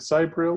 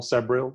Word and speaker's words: Sabriel: And I think a lot of the time for me, with Sabriel or Sabriel, you can pronounce it however you like.